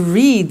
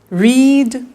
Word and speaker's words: read: make made meet met read read notice that now read and read are written exactly the same but the pronunciation changes in the past tense read read say said